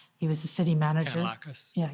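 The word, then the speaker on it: Kanellakos: I asked Deputy Minister Stewart if he could reach into Steve, and I won't try to pronounce his last name. He was the city manager. Kanalakis. Yeah, Kanalakis, sorry.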